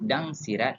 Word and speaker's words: Dang Sarat: That is Dang Sarat or Dayang Dang Sarat. Some people pronounce it Dang Sirat or Sarat, but it matters not, as the lady in